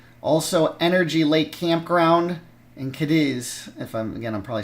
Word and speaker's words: Cadiz: So it's pronounced Cadiz.